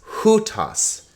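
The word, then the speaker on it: οὗτος: keep going who toss now notice this is a diphthong right with a rough breathing so it's hutas the accent is on the first syllable so it's not hutas it's in in notice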